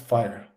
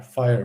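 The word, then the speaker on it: FHIR: of numbers and letters but uh it is pronounced fire h f i f h i r fire for some reason it is pronounced uh most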